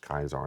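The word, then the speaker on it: Καῖσαρ: And so, and even like in Mark 12, when he says the one time Jesus ever uses the word Kaiser, it's pronounced Kaiser, not Caesar, but anyway, nerd.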